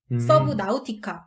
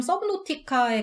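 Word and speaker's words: Subnautica: 그래갖고 부르는 명칭이 뭐 서브노티카, 서브나우티카 이렇게 많이 부르시는데 이게 엄밀히 얘기하면 서브노티카에 가까워요. 서브노티카 뭐 이렇게 발음에 가까운데 이건 영문 명칭이라 그렇고 어떤 게임이냐면요.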